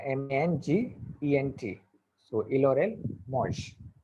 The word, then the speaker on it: mangent: So ill or el, mosh. ENT is not pronounced, so it will be just like mosh.